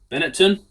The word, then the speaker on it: Benetton: Beneton, that's how you pronounce it.